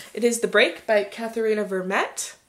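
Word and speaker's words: Katherena Vermette: is the break by katharina vermette that's at least how the name is pronounced in the audiobook um because i totally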